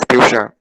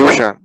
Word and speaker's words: Piyushan: My name is Piyushan. Dishan. Right, Mama? Piyushan. Can you spell it?